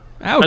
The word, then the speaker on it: Aoki: Like, they got Steve Aoki in to go and do some shit with fucking alternative medicine. Is it? Aoki, yeah. Oh, okay. I pronounced the DJ. That poorly. Yes, the DJ guy. Yeah, Aoki.